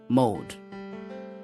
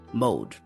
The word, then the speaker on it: moed: season is is spelled m o e d mode in Hebrew language it is spelled m o e d mode and it is literally translated as appointed time